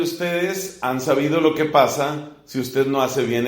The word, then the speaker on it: pas: Y yo miro cómo está escrito y resulta que ese pa tiene P-A-S, pero la S no suena. Y la profesora me dice, no, la S no se pronuncia.